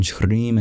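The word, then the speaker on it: श्रीं: And the L is trilled in Kleem, and the R is trilled in Shrim and Hrim.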